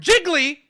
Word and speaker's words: jiggly: give it another syllable the word jiggly is two syllables okay here we go